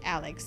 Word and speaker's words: Alec: By the way, his name is spelled like Alex, but it's definitely pronounced Alex, so I'm not mispronouncing it, FYI.